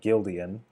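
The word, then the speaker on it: Guildeon: characters from that book the book is entitled Gildan which is spelled gu i l d e o n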